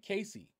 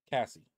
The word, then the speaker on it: Cassie: because for some reason I wanted to say Casey but that's not how you pronounce her name if you guys remember